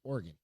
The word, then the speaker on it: Oregon: It's like I lived in Oregon. Everybody said Oregon. Oregon. I'm like, no, that's not how you say it. It's Oregon. Oregon.